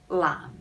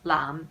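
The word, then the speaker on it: 籃: There is another word that is the same pronunciation. It is lam, and it means basket. And so that's why basketball sounds like blue ball, but it's actually a different character.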